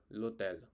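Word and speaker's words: l'hôtel: not spelling like hotel we say lut lutl which means the hotel so h is silent guys over here okay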